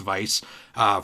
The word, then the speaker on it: Weiss: saw weiss in here i always say his name wrong i think it's weiss i don't think it's vice from final fantasy 7